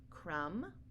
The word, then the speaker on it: crumb: to remember these tricks so for example crumb Clym comb thumb limb and lamb you don't hear a buck but sound at the end so these are only